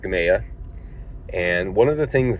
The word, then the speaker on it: Gamaliel: It's called Gamaya. It's spelled like Gamaliel or Gamaliel, but it's pronounced Gamaya.